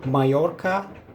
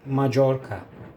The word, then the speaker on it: Mallorca: Farklı farklı telaffuzları var bu iki tane L harfi yan yana geldiğinde. O yüzden Serkan abi neden böyle söylüyor demeyin. Eee doğru telaffuzu böyle kalas mayorka ya da Macorka.